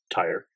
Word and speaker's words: Tyr: But not Tyre. Like now I'm having like a hard time like not saying Tyre. If you slip up, we got to make sure we insert a sound of a tire screeching. Yeah, that's what we don't hear. Don't hear. We just hear the tire screech. So coming back into it, I'll read Tyr and then we'll go Thor.